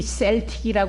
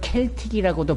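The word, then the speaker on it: Celtic: 하나 셀틱이 팀이 있습니다 그 팀이 셀틱이 발음을 할 수도 있지만 한편으로 켈틱이라고도 발음을 하거든요 그리고 그 시대에 오래전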